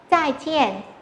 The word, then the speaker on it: 再见: Tiếp theo chúng ta có một từ, đó là từ này có hai thanh bốn đứng liền nhau. Và đọc rõ hai thanh bốn này ra nhé. 再见, 再见, 再见 có nghĩa là gì ạ?